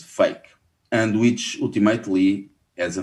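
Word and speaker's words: PHEIC: emergency for international concern, whose acronym is pronounced FAKE, and which ultimately as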